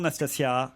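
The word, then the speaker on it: Nastassja: Bonjour Nastasia. Bonjour. Je prononce bien votre prénom?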